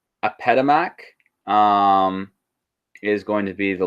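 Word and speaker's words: Apedemak: So first off, with their religion, they have this really cool lion god that they worshipped, and I think it is pronounced Apetamak, is going to be the lion god right there, and it was a warrior god.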